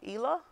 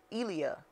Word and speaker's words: Elia: Is it Ela or Leela? No, that's Elia.